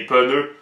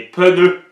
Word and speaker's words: pneu: laffire en caoutchou noir il va dire des pene les autres qui ajoutent des e des pneus mais la phonétique est claire ça se prononce